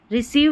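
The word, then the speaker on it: receive: जब सी रहेगा सी रहेगा तो उसके आगे इ आई आएगा इ आई ई साउंड के लिए सी रहेगा तो यह ध्यान रखना है तो रिसीव हो गया इसमें इ आई है ई पढ़ा बिलीव हो गया इसमें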